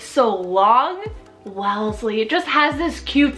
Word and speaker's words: Wellesley: here for a girl guys is Wellesley w-e-l-l-e-s-l-e-y Wellesley this is also so adorable it's so long Wellesley it just has this cute sound I feel